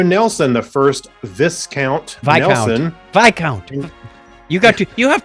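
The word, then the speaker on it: viscount: horatio nelson the first this count by count you got to you have to learn your royal titles here discount what vi count what the first vi count nelson v-i-s-c-o-u-n-t yes it's pronounced by count okay whatever vice count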